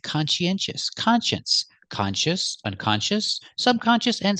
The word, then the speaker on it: conscientious: con she our next syllable is n consen we need a sound in the middle to link these sounds we use the sound y y like yellow in yesterday consen consen and the last syllable is sh sh sh like Shu sh sh sh make a close sound sh let's put it together conen sh put the stress on the first syllable and third syllable we have four syllables consious consious conscientious conscientious